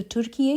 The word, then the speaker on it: Türkiye: करें जो एक्चुअली में उनकी जो ओरिजिनल टर्किश प्रोनाउंसिएशन है वो है तो तुर्कीए के जो प्रेसिडेंट है एरोगन उन्होंने यह इनिशिएटिव लिया और बहुत अच्छा इनिशिएटिव लिया।